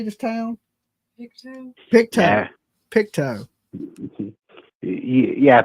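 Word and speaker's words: Pictou: Picto.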